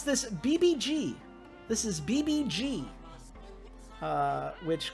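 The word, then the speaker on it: VIVIZ: this name looks one way but you actually pronounce this BBG this is BBG uh which com to the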